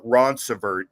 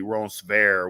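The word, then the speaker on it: Ronceverte: which you know in West Virginia ease is pronounced uh Ron sert is actually Ron ver which was named by um the Makita Lafayette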